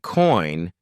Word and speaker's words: coin: about contain dip thongs when you say coin your mouth Glides from the o sound to the I sound it's not done in